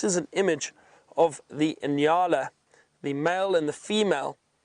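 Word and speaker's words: nyala: known as the Anala that is spelled n y a l a inala and the inala has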